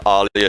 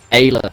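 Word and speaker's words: Aayla: It's the Jedi Crash arc, where with Alia Secura. Ayla.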